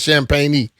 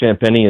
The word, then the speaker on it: Champagnie: At first I thought he was saying his name wrong but his name is Champagnie.